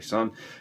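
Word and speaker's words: Sunn O))): that I like so there's a band called sun with two n's and then there's an O and then there's close bracket close bracket close bracket which apparently you don't ever pronounce so you just say son uh they have um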